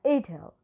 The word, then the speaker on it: it'll: can use it and it is pronounced as ital so if you cannot